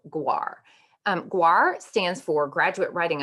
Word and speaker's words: GWAR: is a course called GWAR. GWAR stands for Graduate Writing Assessment Requirement, and I like to think that it rhymes with RAR because it can be a little bit of an animal.